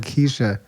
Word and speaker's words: Kesia: But if I see it as an SH in there, it'll help me out. Right, Kesia.